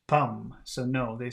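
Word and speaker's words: pomme: should be pronounced and we've got p-o-m-m-e which should be pronounced Palm so no they sound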